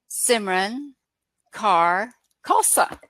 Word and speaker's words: Simran Kaur Khalsa: we'll go from there my full name is Simran Kaur Khalsa it's a very long name but it's a